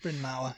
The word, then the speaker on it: Bryn Mawr: According to Bryn Mawr College. I don't know if I'm pronouncing that correctly. Bryn Mawr, yeah.